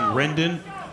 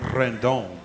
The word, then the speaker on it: Rendon: was saying it wrong she said i was saying rendon no you got to say it right say it rendon can roll that r and shane farmer is